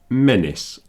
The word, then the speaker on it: menace: And there's another word, menace, does the same thing. These are the only two with a A-C-E that is pronounced is.